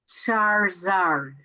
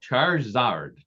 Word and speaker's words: Charizard: And by the way, it's pronounced Charizard. Oh, I'm sorry. Is that Yes. Wow, Charizard.